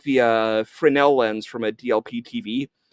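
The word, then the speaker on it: Fresnel: then the um the DLP like the uh Frenel lens from a DLP TV like basically like a magnifier. Okay. Wait, how that's how you pronounce that? Frenel.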